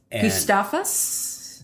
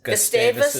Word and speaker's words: Gustavus: College together in Minnesota um more or less gustus Gustavus ad in St Peter Minnesota learn how to pronounce it because it is the Harvard of